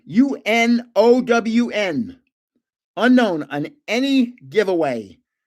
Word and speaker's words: Unown: Okay, to enter the giveaway on any video, just say unknown. UNOWN. Unknown on any giveaway. Just say unknown. UNOWN. Don't spell it wrong.